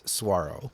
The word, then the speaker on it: saguaro: that interview he said if you say the g again i'm gonna um punch you in the nuts so that's how i learned how to pronounce suaro saguaro or i'll get punch